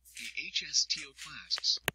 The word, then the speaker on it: osteoclasts: that help form the new bone; and osteoclasts, pronounced osteoclasts, which break down bone and help to sculpt and shape it.